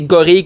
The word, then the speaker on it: gorille: Bon, mais les deux sont comme semi-acceptés, mais la vraie bonne version, la vraie façon de le dire, c'est gorille comme fille ou bille. Jonquille. Merci pour et pas comme ville ou mille.